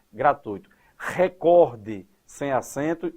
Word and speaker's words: gratuito: Gratuito é a construção correta e sem acento. Quando você pronuncia de maneira equivocada gratuito, a tendência é colocar um acento porque aí forma um hiato.